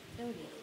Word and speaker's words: Doty: Warren, is your last name pronounced Doty? Doty.